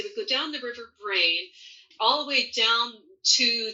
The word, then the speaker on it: Brain: up on the River Brain. And that's an ancient Anglo-Saxon word. It sounds funny. It's spelled B-R-A-I-N.